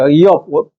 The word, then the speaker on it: 이욥: 이욥, 원래 발음은 이욥이에요. 이업.